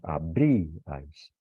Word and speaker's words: abríais: Lo que decimos, abríais. Como el acento fonético recae sobre una vocal cerrada, ya no se considera que hay un triptongo.